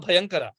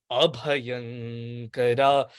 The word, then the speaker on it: Abhayankara: One time I heard an individual say that Shankara Bhayankara, and that's totally meaning Shankara is the one who gives fear, but it should be Shankara Abhayankara.